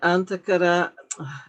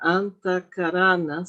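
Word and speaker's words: Antahkarana: So the antar I was saying it wrong. Antacarana symbols.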